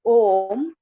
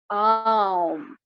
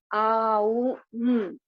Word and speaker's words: Om: The next is what is known as the benefits of, though it is mentioned as Om, the way it is pronounced is Aum. Aum. That's how it is.